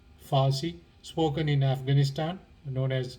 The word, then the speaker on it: Farsi: a kind of farsi the iranian language which is parsi but it's pronounced farsi spoken in afghanistan known